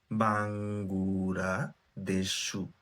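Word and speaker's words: バングラデシュ: তো বাং, উচ্চারণ যদি ভেঙে ভেঙে বলি, বাঙ্গুরা দেশু, কিন্তু যখন আপনি ফার্স্ট বলবেন তখন এটা বাংলাদেশ শোনাবে।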